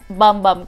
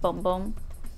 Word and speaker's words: Bum Bum: and it's distillation Aereo bum bum cream oh it's pronounced boom boom boom boom yeah and it's